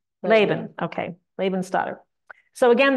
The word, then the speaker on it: Laban: And how do we pronounce it? Laban or Laban? Anybody know? Stoddard is Laban.